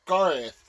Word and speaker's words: Garroth: with some stretches Ivy my name is pronounced Garo I know GTH but we really should go technically in this episode you both said it R it's Garth that or at least